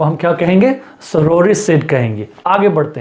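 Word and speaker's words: sororicide: देखिए सोरोरिसिड, इसका उच्चारण आप पकड़िए, इट्स सोरोरिसिड। सो सोरोरी कम्स फ्रॉम, पहले तो सिड का मतलब किलर प्लस सोरो, और सोरो का मतलब क्या होगा?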